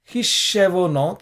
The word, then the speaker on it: חִשְּׁבֹנוֹת: Hishshevonot, this is, okay, because there is a dagesh in the shin, and therefore you say hishshe, slightly you pronounce the shva, hishshevonot, whereas this is